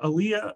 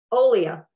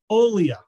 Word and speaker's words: Olia: Massachusetts off the beaten path uh author Aaliyah um no I got that wrong uh uh uh we even practiced this how am I pronouncing it Olia Olia I want to say Alia that doesn't sound right so Olia Olia